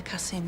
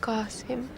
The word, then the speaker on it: Qasim: What about your brother, Kasim? Maybe he can help us. It's pronounced Qasim.